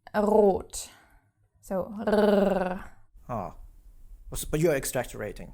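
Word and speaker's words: rot: color red which is RO now the word is starting with the R so of course you have to pronounce it Ro also after another consonant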